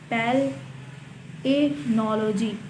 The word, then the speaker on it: palynology: Pronunciation की बात करें तो इसकी प्रोनाउंसिएशन है पैलेनोलॉजी, पैलेनोलॉजी, PL, फिर उसके बाद IHE की आवाज़ आएगी, फिर नोलॉजी, पैलेनोलॉजी।